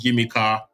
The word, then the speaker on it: Yimika: So our spotlight of the week this week is an artist called Yimika. She's a singer, songwriter, and producer. Yimika is spelled Yimeeka, and the name of the EP is called Alter Ego.